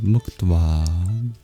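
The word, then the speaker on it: muktvā: The word of the verse is mkta. m u k t v a long a mukta.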